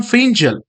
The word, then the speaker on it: Fengal: into the topic Cyclone fangle so Cyclone fangle otherwise it is usually pronounced as a cyclone Fel so Cyclone Fel was